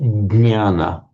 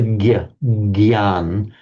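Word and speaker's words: ज्ञान: It's the one that in Sanskrit is jna, which you get jnana. It's the one that in Hindi they pronounce as the gyan. I think in Marathi you actually pronounce it as jnana.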